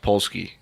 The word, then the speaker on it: Polski: Yeah, it's pronounced Polski.